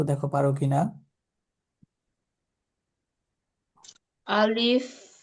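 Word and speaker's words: ألف: আচ্ছা, তাহলে আমরা এই যে হরফগুলো দেখতে পাচ্ছ এখানে, আলিফ কিভাবে উচ্চারণ হবে দেখতে পাচ্ছ? আলিফ জি।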